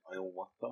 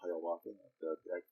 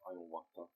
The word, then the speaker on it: Hiawatha: He met the individual named Iowata. A lot of people call that Hiawatha. As I understand it, the correct pronunciation is Iowata.